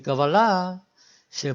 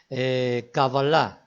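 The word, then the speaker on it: קבלה: he dicho y es una palabra aguda cábalas terminando digamos el asiento 3 liderando escribiendo en español que avalar el acento y es al final palabra aguda al final cábala y así es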